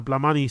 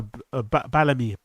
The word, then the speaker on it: BALAMII: And he was also featured on a BALAMII set, on a BALAMII, not BALAMII, BALAMII, right? That's how you pronounce it.